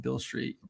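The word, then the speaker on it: Beale Street: It's spelled like Robert Beal with an E on the end. But yeah, Bill Street's like a Bourbon Street, but like just a little smaller and a little sketchier.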